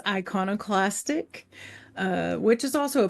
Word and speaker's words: iconoclastic: pulse magazine okay first of all am I pronouncing that right yes it's iconoclastic uh which is also a part where that